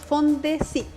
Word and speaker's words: FONDECYT: Háblanos de este proyecto que se pronuncia, si no me equivoco, Fondesit.